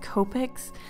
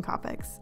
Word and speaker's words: Copic: And before you comment in the comment section, I know it's supposed to be pronounced Copics, but I can't call them that. It sounds so weird and awkward to me. I don't know why. So I'm gonna call them Copics.